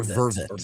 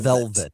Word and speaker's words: vervet: And they're by the way, I pronounce it they're vervet or vervet. They're not velvet monkeys. They're vervet monkeys or vervet.